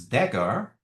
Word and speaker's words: dagger: We have this dagger. So this is pronounced as dagger.